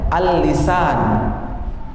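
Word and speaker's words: اللسان: Tapi ingat di sini ada alif lam ketemu sin, ali, 2 kali lam di situ Pak. Jadi di tengah itu ada begini, baru sin, baru alif, baru nun. Bacanya al-lisan.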